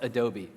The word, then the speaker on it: Adobe: to the conversation room I found out it is pronounced Adobe so you can go